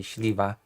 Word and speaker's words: Śliwa: I'm gonna pronounce it in a Polish way, Śliwa.